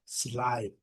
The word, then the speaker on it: slide: A E não é pronunciada, então é slide, slide, slide.